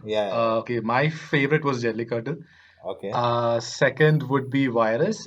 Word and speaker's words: Jallikattu: I'd say the second one would be I'm sorry, how do I pronounce this? Jallikattu. Jallikattu. Jallikattu.